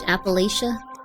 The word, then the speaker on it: Appalachia: Appalachia is pronounced Appalachia. Oh, Appalachia.